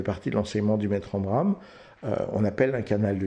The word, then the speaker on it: Omraam: Ça fait partie de l'enseignement du Maître Omram.